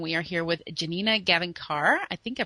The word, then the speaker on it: Gavankar: are here with Janina gavankar I think I pronounced that correctly yeah sure alright fine how do you pronounce it I think of on car but who cares okay